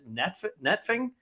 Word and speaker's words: Nefting: I'm going to maybe mispronounce this. Nefting.